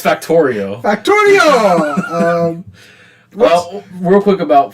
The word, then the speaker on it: Factorio: Fantacaro. Factorio.